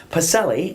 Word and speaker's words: Pacelle: We see her frequently, and Wayne Pacelle. Yes. And I didn't give you the hard C.